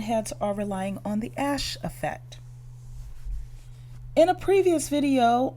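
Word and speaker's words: Asch: that these Talking Heads Are relying on the ash effect in a previous video on my channel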